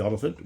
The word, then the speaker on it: Olyphant: David Dutton played by Timothy Olyphant which rhymes with elephant incidentally and his pregnant